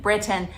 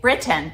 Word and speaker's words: Britain: when I'm filming in Britain, that I try to say Britain instead of Britain. Pronounce those T's.